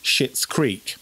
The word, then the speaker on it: Schitt's Creek: Well, the mum out of Home Alone, who is called Catherine O'Hara, who nowadays you'll probably know from Schitt's Creek. Mm-hmm. Now, that is how you say it.